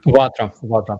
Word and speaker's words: Vatra: All super chats are going to be going to is it Vatra? Is that how it's pronounced? Starsky? Vatra. Yes. Vatra.